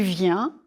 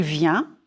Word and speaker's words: vient: Il vient. Nous venons. Vous venez. Ils viennent. Il vient. Singulier. It's nasal. Ils viennent. Pluriel. Here you hear the n.